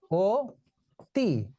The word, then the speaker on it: অতি: আমরা এখানে লিখে নেই এটা হলো অতি কিন্তু আমরা উচ্চারণ করি কি ও তি এখন এই দুটো উচ্চারণের